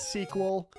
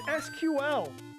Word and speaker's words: SQL: sequel homework yes Mike eson I called it sequel not SQL I called it sequel dude don't call it sequel It's SQL I know um tech people are very